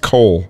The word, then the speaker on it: Coel: It's pronounced Cole. Okay, it's pronounced Cole.